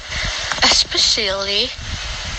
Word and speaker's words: especially: we may say clothes especially escape espresso for some reason many people put an x sound into these words this is we spell